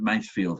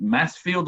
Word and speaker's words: Masefield: surname correct it is is it mass field or mace field base field oh okay i did get it right first time or that there's there's